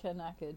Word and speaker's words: knackered: It's spelt with a K, so I said knackered.